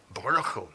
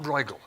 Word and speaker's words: Bruegel: You'll all know this wonderful painting by Pieter Bruegel, not Bruegel. I'm told by a Dutchman that this is the correct pronunciation.